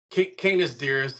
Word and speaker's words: Canis Dirus: Yeah, it's Canis DIrus is the correct pronunciation.